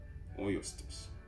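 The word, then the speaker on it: Ağustos: Or you must again, you don't pronounce, so it's Augustus.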